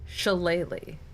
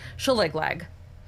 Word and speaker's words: Shillelagh: You now know Shillelagh. Shillelagh! If you're going to look it up, it's on 5e tools. The best pronunciation to try and guess the spelling I can give you is Shillelagh.